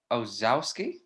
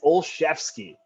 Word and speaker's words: Olszewski: the new england patriots what's his name gonna ozzowski so phonetically absolutely uh is that what his parents uh intended for the pronunciation of his last name it is olszewski gunner olszewski just like mike shashefsky the duke